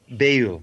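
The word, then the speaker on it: beyul: the the periphery and uh background is that pronounced bail bail yes literally so bay means hidden or secret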